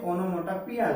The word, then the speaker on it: onomatopoeia: So if that comes sound and meaning, so that is onomatopoeia. Okay, you can say onomatopoeia also. Both pronunciations are there.